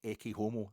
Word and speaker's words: ecce homo: Tried your best, Friedrich, tried your best, but ecce homo, 4 syllables.